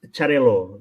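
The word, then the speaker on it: Xarel·lo: part of it in in spanish is is no is charilo cereal in spanish in catalonia it's quite similar but finishing o or in you is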